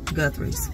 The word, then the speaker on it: Guthrie's: is right we stopped there what is this Guthrie's I know that's why I said it so